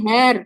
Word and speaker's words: Herr: উচ্চারণটা কি হবে? হ্যার না হেয়ার, হেয়ার, এই হেয়ার, হেয়ার, হেয়ার। হেয়ার, একদম সিম্পল, হেয়ার।